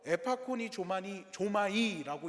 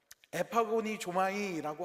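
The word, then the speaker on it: ἐπαγωνίζομαι: 헬라어로 에파콘이 조마니 조마이라고 이야기를 합니다. 이거 발음 연습했는데 또 틀렸네요. 열심히 연습했는데 여러분 어 에파고니 조마이라고 하는이 말의 뜻은 뭐냐면은요.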